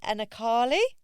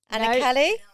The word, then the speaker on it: Anarkali: So today we have the lovely Anarkali. Anarkali. Anarkali. Think of it like this. Do you know what the best way a client told me? She said it rhymes with sparkly.